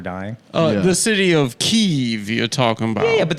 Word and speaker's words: Kiev: you and of course the correct pronunciation is Kiev you're gonna make Adam